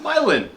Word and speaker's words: Milan: you will, they have a town that is spelled exactly the same as a city in Italy, and that city in Italy is called Milan. In New Hampshire, it's called Milan.